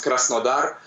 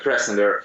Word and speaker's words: Krasnodar: Well, actually, I live in a city called Krasnodar, and it's in Russian it sounds Krasnodar, but yeah, in English it's better to pronounce like Krasnodar.